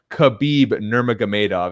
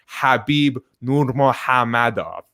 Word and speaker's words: Nurmagomedov: The way Khabib pronounces his own name, to the best of my ability, is not Khabib Nurmagomedov. It's actually Khabib Nurmagomedov.